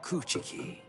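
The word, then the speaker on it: Kuchiki: become stronger than byakuya coochi you almost said coochi wrong you you you actually pronounced the CH a little bit too hard discouraging isn't it it's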